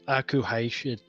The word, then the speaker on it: akuheish: Oh, I was like, I've been told how to pronounce it, and I can't do it, and she's like, let's all just be safe and go Aku. Yeah. That's what most people do. It's akuheish. Aku for short and easier.